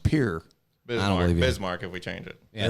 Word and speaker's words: Pierre: know that's actually incorrect what is it it's pronounced Pierre here that's good well